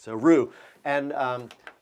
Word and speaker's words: roux: all right but in in france they don't pronounce that x so roo and um it's real